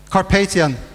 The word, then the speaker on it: Carpathian: coast burien now cuspid Kasparian mountains or do pronounce it Carpathian carpathian mountains as right the sprawl of objects